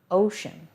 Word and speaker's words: ocean: on the ground ocean ocean that c makes an sh sound that's unusual in this word it's one that we'll need to practice ocean previous meaning the one